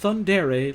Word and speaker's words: Thundere: Also, in case you're wondering, my user is pronounced Thundere, like Yandere.